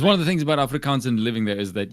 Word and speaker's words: Afrikaans: That's one of the things about Afrikaans and living there is that you have. Because so Afrikaans is such a mixture of languages. Afrikaans, right? Like not Africans, Afrikaans.